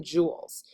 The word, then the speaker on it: joules: um is measured in joules so it's kind of it sounds like the jewels that you wear like on your fingers or on your ears but um it's spelled